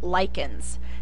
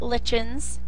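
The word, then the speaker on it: lichens: one of the biggest examples would be um lyans it's not lens it's pronounced as a k so lyans and these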